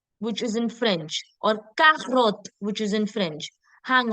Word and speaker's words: carotte: is in French, or carotte, which is in French. Hang on. Didn't we just do that C is say? Then why are we saying carotte and culture?